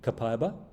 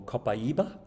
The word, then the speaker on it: copaiba: The second oil is 2 ways to pronounce this one, copaiba or copaiba.